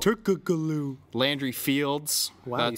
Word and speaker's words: Turkoglu: It's Turkaloo. Turkaloo, whatever. I pronounce it how it's spelled. Turkoglu.